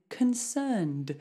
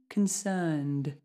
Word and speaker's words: concerned: So learned needs to rhyme with concerned. So it's exactly the same sound. We're going to do learned, concerned, like that.